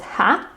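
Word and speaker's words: Har: The mantra is called Ha. Or it's pronounced Ha. It's written H-A-R, but we pronounce it Ha, Ha, Ha, Ha.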